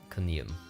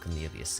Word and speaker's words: corneum: Corneum, not Cornelius. Corneum.